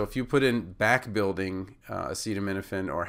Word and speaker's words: acetaminophen: back-building in the drug, it's as in comma, C as in ceiling, ta as in data, mi as in mint, na as in cannon, so it's not acetaminophen, it's nuffin, and then fen, like, is in hyphen.